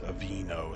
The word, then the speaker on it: Aveeno: spread that comes from the genus avena it's avino it's spelled differently but because there's oatmeal in the